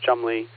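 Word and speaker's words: Cholmondeley: Yes, it is pronounced Chumley. Apparently, it's not spelled that way, but at uh uh in Norfolk.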